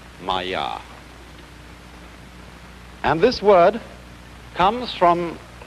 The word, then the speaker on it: maya: this kind of thing is the sanskrit term maya i'm going to write that down for you pronounced maya and this word comes from a root in